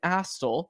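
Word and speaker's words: Astle: right back also Brandon astel who said his name about nine times on the broadcast last night with a distinct T sound in there Brandon astel unlike how you say it uh Brandon astel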